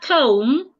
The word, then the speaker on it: comb: In the word comb, the B is silent.